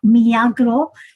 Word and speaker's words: Milagro: Milagro, because the Spanish pronounce L as Milagro Rosé.